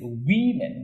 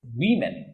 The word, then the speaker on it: women: man's woman became women the pronunciation is women don't say woman it is women when it is in plural form mouse not mouses mouse